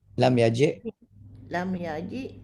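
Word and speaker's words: لم يجئ: But in lam yaji, lam yaji, the hamzah is written above the ya. Here only hamzah is pronounced, and the ya is only a chair for the hamzah.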